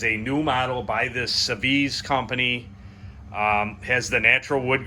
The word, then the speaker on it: Seviz: So today we have, I'm going to give my best shot at pronouncing this. Seviz, I guess, is the way it's pronounced. Seviz.